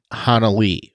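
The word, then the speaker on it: Hanelle: different podcasts and and interviews where it's specifically pronounced Hana Li so that's what it is and another thing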